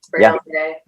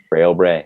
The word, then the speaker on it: Frail Bray: Frail Bray. Frail Bray.